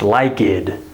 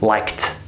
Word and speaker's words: liked: this word is pronounced like-id. And they'll think like it. No, this word is not pronounced like-id. It's liked.